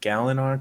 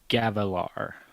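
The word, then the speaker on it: Gavilar: whoa back up wait did I say it wrong yep Elliot give him the pron ICI or give them how you would say it again okay gavalar okay so it's just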